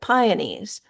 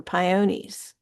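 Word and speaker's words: peony: one of James Madison's own entries and the phonetic spelling might give you the idea that Madison pronounced it pione or pione blowing is a somewhat archaic word for blooming.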